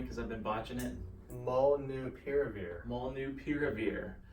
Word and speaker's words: Molnupiravir: He's going to pronounce it for me because I've been botching it. Molnupiravir.